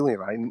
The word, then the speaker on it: Levi: appreciate is that Zachary Levi never went out of character. Levi, just Okay, well, Well, that's how he thanks. pronounced it. So just to be Okay. correct, Yeah. Zachary Levi. like the jeans, just think like the jeans.